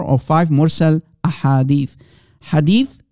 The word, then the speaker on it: hadith: five more cell ahadith hadith singular hadith multiple hadiths that's how you say it in arabic ahadith multiple singular hadith a hadith so there are around